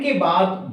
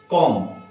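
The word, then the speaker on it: comb: के बाद भी आए एम के बाद अगर बी आता है तो उसको हम साइलेंट रहने देते हैं उसको हम कभी भी प्रोनाउंस नहीं करते जैसे कॉम नोट कोंबो इसको बोलते हैं कॉम है ना लैंड क्या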